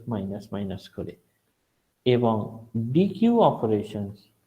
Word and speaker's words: deque: Double ended Q অথবা ডি Q, right? So এই নামটা হচ্ছে ডাবল এন্ডেড কিউ, আর এটাকে আমরা ডি কিউ, বাট বানানটা আলাদা, ডি কিউ ইউ ই, ওখানে ডি কিউ ইউ ই ইউ ই ছিল, ইট ইজ লাইক দ্যাট।